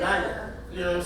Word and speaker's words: Nyil'a: That's how you say it, Nyil'a.